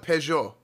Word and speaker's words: Peugeot: do you pronounce this how do you pronounce this in american they have this in iran i have one in oregon no you don't you're lying wait really is it pugot in iran they call it peugeot and everybody drives like